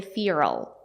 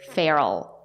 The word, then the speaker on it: feral: American English native speakers do not say FAL they say feral F like in bed and head feral feral means wild